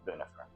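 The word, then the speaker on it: Bunefer: B U N E F E R. It's actually the LAU if you if that matters to you, but it's bunifer.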